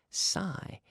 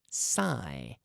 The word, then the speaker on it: sigh: sushi I too son sigh s i GH sigh sigh yeah so the spelling is a little bit deceiving there but it's s IgH that the GH don't really get pronounced that way sigh it's almost like